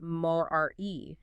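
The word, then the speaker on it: μωρία: The Latin term Pascal uses is stultitium, and the Greek from the New Testament is moria, pronounced mor-re.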